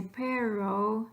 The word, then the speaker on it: perro: learning the correct pronunciation if you could just do something a little different with your double arse then you do with your single arse so worst case scenario you could say perro and pattern you're definitely not correct Spanish but the most important